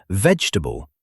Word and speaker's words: vegetable: Same trap happens with vegetable and comfortable. They both have fewer syllables than people assume.